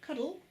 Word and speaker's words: Cuttle: Now, this is a video of Sifu Brian Cuttle, or as he pronounces it, Sifu Cuddle.